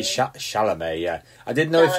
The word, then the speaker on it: Chalamet: Chalamet. Yeah, I didn't know if you meant. Yeah, I didn't know if you meant that one or Timothy Oliphant, who was in Deadwood. Definitely Timothy Chalamet.